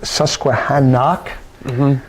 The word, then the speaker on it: Susquehannock: Susquehannock, not Susquehanna, but Susquehannock plays Mannheim Central.